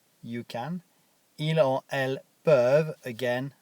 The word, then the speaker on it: peuvent: Ils or elles peuvent, again, I don't pronounce the ENT at the end, for they can.